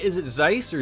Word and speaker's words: Zeiss: am i saying it right is it zeiss or zees so longer we'll have something oh god uh where did joshua go at this point in time first one zeiss okay yeah look at this a scientist who's